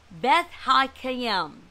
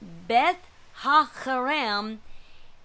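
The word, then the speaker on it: Beth-haccherem: Beth Hakayim is what, and that C, that double C is not pronounced S, like I thought was Semech. It's not. It's a Chet, a Chet, it looks like. So it's Beth Hakarim, and it means the house of the vineyard.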